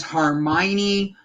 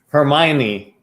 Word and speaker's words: Hermione: in to talk about your show tonight guys hermione harry potter did i say it wrong hermione i said hermione he said harmony but it's